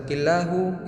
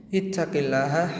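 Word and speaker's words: اتق الله: harakat yang salah kita killahu itu salah seakan-akan kita memerintahkan taqwa kepada Allah sungguh Maha Tinggi Allah dari segala perintah yang kita lontarkan akan Jangan sampai salah roket dalam pengucapannya sama seperti Alquran tidak boleh salah dalam pengucapan harokatnya ittaqillah haitsuma kunta artinya bertakwalah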